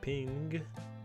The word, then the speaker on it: PNG: So I'll just be using a static ping. Yeah, we say ping. Me and Prince are using ping. PNG just takes too many syllables. So we're saying ping.